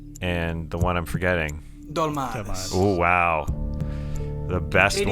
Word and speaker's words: Dolmades: Dolmades, am I pronouncing that right?